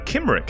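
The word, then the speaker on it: Cymric: your culture uh is Kim which is spelled with a c c y m r i c Kim now the Kim people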